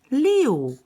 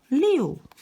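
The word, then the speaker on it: 六: write it like this like this and it's pronounced leo leo let's go and have a look at number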